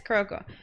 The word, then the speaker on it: Kuroko: mean is it wait kudoka kuroka i said kuroko i don't think i said it right yeah it is kuroko kuroko no basket i